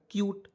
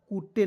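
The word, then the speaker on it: cute: तो क्या हो जाएगा क्यूट। कूटे नहीं पढ़ना है, क्या पढ़ना है, क्यूट।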